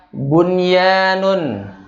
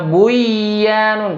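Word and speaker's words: بنيان: Pokoknya contoh bila antum ketemu ad-dunya bunyanun, ada lagi bunyanun. Bunyanun. Nah, sama nun sukun ketemu ya. Ya. Bunyanun. Nun sukun bertemu dengan ya. Tidak dibaca dengung, misalnya buyanun, salah. Ya, tapi bun dibacanya.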